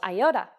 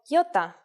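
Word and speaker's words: Γιώτα: is a vowel that you may have heard called iota in Greek though it is called Yota and it makes the sound e again this will look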